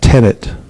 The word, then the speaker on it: tenet: But I didn't say tenant, I said tenet.